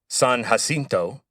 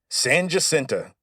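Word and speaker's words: San Jacinto: might look at the name and think it's San Hasinto, but you'd be wrong. As soon as the Texians won the battle of San Hasinto, Sam Houston declared that it would be pronounced Sanenta from then forward.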